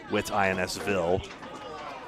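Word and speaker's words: Whitinsville: Bowling for scholars at a spare time in Whitensville, which looks like it's spelled Wittensville. Whit Insville.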